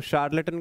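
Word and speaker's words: charlatan: तो शार्लेटन को हम याद कैसे रखेंगे? इसकी प्रोनाउंसिएशन शार्लेटन है, शार्लेटन, श बोलते हैं इसको, श, हाँ शार्लेटन।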